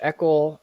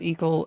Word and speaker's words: Eakle: my last name right everyone pronounces it wrong so we're already off to an amazing start for having me yes I know it's not eal and it's certainly not exactly not either one of